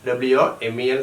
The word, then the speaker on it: women: മെൻ, മാൻ plural is men and woman plural is women, WOMEN spelling, and it is pronounced as not woman but it is women.